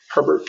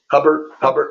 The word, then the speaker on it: Herbert: Herbert. What did I say? Hubbard.